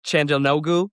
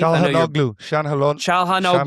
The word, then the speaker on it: Çalhanoğlu: Hakan, I'm going to butcher his last name, Chandanoglu. Is that how you pronounce it, Keith? Çalhanoğlu.